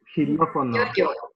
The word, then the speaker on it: xilófono: In this case, xilófono is pronounced as an H in English, xilófono.